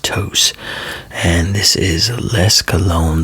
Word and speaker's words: Tous: And so But this is Tous. Tous. Now, some people say it toos. Some people I've had people say it's pronounced too, but from but it's a Spanish company, so it's pronounced Tous.